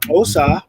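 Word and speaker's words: Xhosa: Like, well, the Osa, that's how you say it, with the click, the also have a word for tiger.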